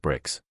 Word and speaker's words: BRX: I prefer independently minded, Bricks corrected her, and it's pronounced Bricks. The X is silent because I'm mysterious.